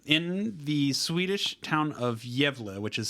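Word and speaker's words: Gävle: goat so um in the Swedish town of yeva which is spelled g a vle e um they so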